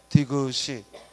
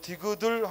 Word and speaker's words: 디귿을: 자음의 이름을 말할 때에는 한글 자음의 이름을 말할 때는 연 법칙이 적용이 안 돼 그래서 디지가 아니라 뭐라고 읽어 디그시 들이 아니라 뭐라고 읽어 디귿을 그래서이 경우는 연음 법칙의 예외야 연음과 상관없이 여은 법칙에 상관없이 예외적으로 어떤 경우 자음의 명칭을 말할 때 그래서 디들 하고 읽으면 안 되고 디귿을 디그라데이션 예 피플이